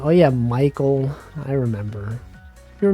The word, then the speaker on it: Michael: Isn't it weird that Michael is pronounced like that? It looks like if someone unfamiliar with English might be like, it's Mike Eel, right?